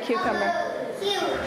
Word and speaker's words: cucumber: What's the first sound you hear in cucumber? It does sound like a Q, but we spell it with these two letters. C and U. But you're right, it does say the name of the letter Q. It sure does.